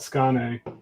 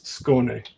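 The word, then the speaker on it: Skåne: in stockholm the air in the southern tip of sweden is called skane if you're from malmo it's schone i actually don't know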